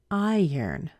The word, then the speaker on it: iron: high it doesn't matter they all sound the same they sound like iron I yearn isn't that funny